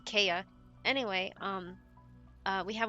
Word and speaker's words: IKEA: Sorry, I want to say it like Americans or US the the IKEA, but it's the Kaya.